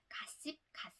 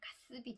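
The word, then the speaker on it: gossip: 가의 강세가 가니까 뒷발음에 씹이 완전히 약하게 발음이 돼서 습으로 발음이 되는 거죠. 사전에 그렇게 안 나와 있더라도 확 약하게 발음을 해서 가습이 되는 거죠.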